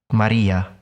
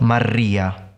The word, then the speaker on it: Maria: a it should be lightly trilled Maria Maria not Maria that sounds very foreign if you want to